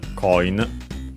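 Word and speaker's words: コイン: Uh we check the accent but it should be on uh on just like in English. Yes it is coin on the first syllable.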